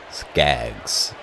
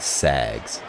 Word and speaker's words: Skaggs: Skaggs, not Sags. Skaggs, I think it is.